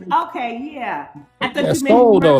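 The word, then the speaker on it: Sowell: I thought you Soul though, like someone's got Soul. That's Thomas Soul. Yeah, it's Thomas Soul.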